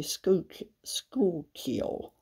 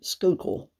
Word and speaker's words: Schuylkill: Narwhal Schuylkill Dragonette Sapphire some people say School kill but I actually Googled it and I think the locals say Schuylkill and I order this